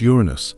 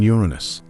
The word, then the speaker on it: Uranus: it should be pronounced Uranus rather than Uranus although the shift in stress doesn't change much originally astronomers wanted to